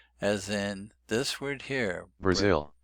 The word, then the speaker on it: Brazil: As in this word here, Brazil, Brazil. Peru, Brazil, Peru, Brazil, Peru. Interesting that the zil is stressed, so the second syllable is stressed.